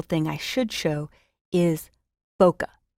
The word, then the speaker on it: bokeh: i should show is boca some people call it bouquet but the proper pronunciation is bow like bow tie and cut like kettle ok ok I have